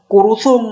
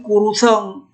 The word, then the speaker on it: kuruseng: bacanya nah ini lagi ini bukan kurusung bacanya tapi kuruseng tidak ada UN kuruseng dalam bahasa Aceh yang ada UN kurusung nah itu jadi penggunaan